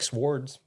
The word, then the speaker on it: swords: I do like swords. Swords. I like swords. I don't know why you thought it was that so because funny, the W is silent.